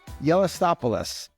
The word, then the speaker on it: Gelastopoulos: the CEO of the Broken Yoke Cafe John yopos John how are you today I'm good Frank